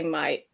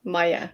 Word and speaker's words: Mai: but in Danish it's like my name and the month is pronounced Mai. Hmm. Yes. Really, really good information. So it's actually Mai. Mai. Okay. I Yeah, thi- so yeah. I said it right the first time. That's good. Yeah, just not Maya, like Mai.